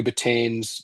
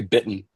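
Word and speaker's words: Bittan: just you know Roy Betain's you know magnificent piano Roy Bittton probably I should say it correctly.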